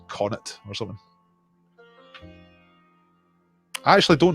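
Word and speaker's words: Connacht: pronunciation of courage connoct i said cannot it was the provinces ulster munster lightroom and canoct i looked like canon to me and they were going it's like connet or something i actually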